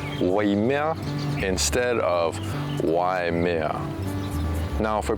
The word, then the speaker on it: Waimea: Now it's typically mispronounced as Y mea, but what they're missing is that I sound. So it's not Y as like the letter Y in English, but it should be Wai, Waimea instead of Waimea.